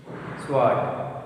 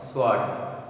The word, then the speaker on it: sword: Wrong, right, wrist, sword, sword. These are the words. In these words, W is silent. Letter W is silent in these four words.